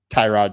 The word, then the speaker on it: Tyrod: Next, we got Tyrod Taylor, or Tyrod, as Baker Mayfield says how you actually pronounce it.